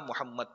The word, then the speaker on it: محمد: To ye sahi pronounce nahi hai. Wo Mamed nahi tha, wo tha Mahmood tha ya Muhammad tha. Aur Mamad aksar Muhammad hota hai. To koshish karke, agar aap itna khubsurat pronounce nahi bhi kar sakte, Muhammad, ye nahi bol sakte, to kam az kam Muhammad bol de.